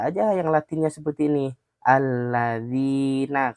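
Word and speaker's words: الَّذِينَ: Alladzina. Kalau i-nya dua berarti dua ketukan.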